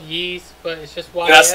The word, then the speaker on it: Ys: the why ass you know it's just called yeast that's how it's pronounced Jack yeah he's origins I've been telling